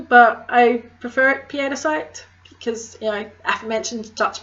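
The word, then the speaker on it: pietersite: If you say petersite, you're not wrong, but I prefer it piedicite because, you know, aforementioned Dutch mother killing.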